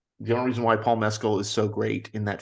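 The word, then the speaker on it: Mescal: the only reason why Paul meskel is and that is the correct pronunciation of his name as we all read today um um the only reason why Paul meskill is so great in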